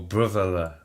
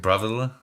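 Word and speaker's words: Brávellir: The Battle of Brovilla, or Brovilla. I would pronounce it Brovilla, as I would anglicize it as such, but it's a battle that you don't really hear about.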